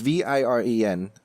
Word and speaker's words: Viren: I will say that is it Varen or Varen? I don't know what it is. Viren? It's Viren. Pronounce it how you want. I think it's Viren.